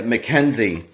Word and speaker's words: Mackenzie: So Mackenzie, I think is how you say his name. Let me look real fast. Yeah, Mackenzie, who's the director.